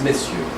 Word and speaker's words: messieurs: Monsieur is a combined word from Old French, but it's pronounced monsieur. And if it's plural, it's messieurs.